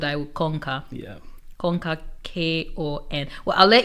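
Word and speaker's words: konka: So the first word conquer is spelled K-O-N-K-A, and it's Bemba, a language from Zambia, and it means to follow.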